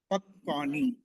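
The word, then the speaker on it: पक्वानि: Tani pakvani. Tani pakvani. So you see the ka is full, but we pronounce off, and va is written below and is kind of off. We pronounce full.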